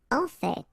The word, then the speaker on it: en fait: Du coup, du coup, du coup, du coup, en fait, you pronounce final, you can hear.